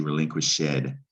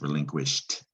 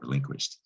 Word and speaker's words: relinquished: to get relinquished and you don't pronounce the ed really you don't say relinquish shed you don't hear the e it's relinquished actually again you don't